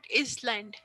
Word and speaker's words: island: Island this is not island island s is silent here we call it Island